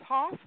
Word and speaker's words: Hoff: peter um hoff i i want to say huff but it's hoff and his wife eunice